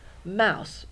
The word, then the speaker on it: mouse: one there we go mouse mmm and Wow it's oh you to make the owl sound Mouse there's the s and who knows why but there's a silent e at the end Mouse okay Mickey thank you